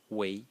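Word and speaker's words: 维: The next character is pronounced wei, again in the second tone, and it used to mean, its original meaning was a fiber.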